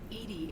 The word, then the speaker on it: EDI: specific inquiry real name why are you named edie edie is the phonetic pronunciation of edi that is an acronym for